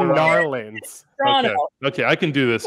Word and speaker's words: Toronto: How do you say Toronto? Toronto. Oh, it's yeah. Toronto. Drop the T, guys. Come I can't. Toronto.